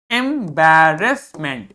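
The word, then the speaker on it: embarrassment: क्या पढ़ना है इसको एम बैर S meant एंबेरेसमेंट एंबेरेसमेंट एंबेरेसमेंट ऑन his face wooden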